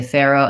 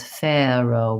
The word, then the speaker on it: farro: slight difference on there we say farro and there says farro with a more of a British a kind of a diphthong on that a yeah